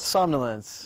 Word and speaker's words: somnolence: joins me now to discuss his short film samya lence Chris thank you so much for coming on the show am i pronouncing that right somnolence somnolence yes good perfect because there's there's an odd